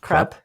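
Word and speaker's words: Kruppe: His name is pronounced Krupp.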